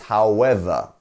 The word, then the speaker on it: however: great and we have our apostrophe here our DOT here so it's however it's on the second beat however however you see